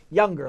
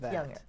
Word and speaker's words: Jungr: it I almost I came close younger like the young fra yo like young it's younger how are you Leslie